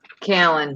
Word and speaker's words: Callan: Callan, yep, rhymes with Gallon.